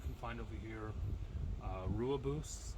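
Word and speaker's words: Rooibos: find over here uh Rua boosts I think it's pronounced uh technically the tea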